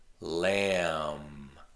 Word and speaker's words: lamb: Now sometimes the letter B can be silent, and this is common with an MB letter combination. Comb. There's no B sound. The B is silent. Comb. Lamb. Thumb.